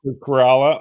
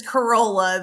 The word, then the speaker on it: Corolla: I I'm completely confused it's it's corala so if someone says Corolla that that you may or may not be corrected okay so I'm if I say Corolla it's shoot me down right away because I'm G to make sure I say corala that's right I always